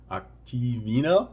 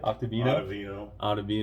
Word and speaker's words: Ottavino: Ian Anderson, Octavino, is that how you say it? Ottavino.